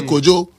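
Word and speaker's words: Cudjoe: Cojo but we say Kjo that's how we pronounce it you know and thewamies.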